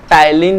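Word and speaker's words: ptyalin: तो इस सलाइवा में प्रेजेंट होता है टाइलिन लाइसोजाइम एंजाइम्स। कौन से एंजाइम्स होते हैं? टाइलिन lysozyme enzyme. P silent है उसमें, ठीक है।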